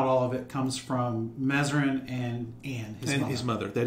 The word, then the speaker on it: Mazarin: he changed it to mazarin to be more french correct that's right it's probably not pronounced probably like mezzarine or something like that right uh pronounced in french he did that to